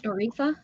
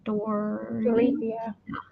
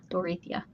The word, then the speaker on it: Dorothea: Am I saying it right? Doretha? Dorethi? Doretha. Dorothea. Dorothea. I was forgetting the E there at the end. Dorothea.